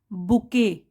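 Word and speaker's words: bouquet: Now spelling देख लीजिए, ये इसको कैसे बोलेंगे हम, बुके। स्पेलिंग अलग है लेकिन हम कैसे प्रोनाउंस कर रहे हैं, बुके।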